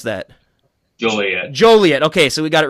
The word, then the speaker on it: Joliet: of Joliet Illinois Juliet Juliet Juliet how you pronounce that Julia Joliet okay so we got it right we got